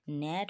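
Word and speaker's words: gnat: এস আই জি এন কিন্তু জি এর কোন উচ্চারণ হবে না ডিজাইন হবে ঠিক আছে ন্যাট হবে জি এন এটি ন্যাট রেন আর ই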